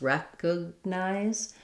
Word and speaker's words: recognize: So in recognize, we have first syllable stress, recognize, and it sounds like recognize. So the letter E says the vowel, rec.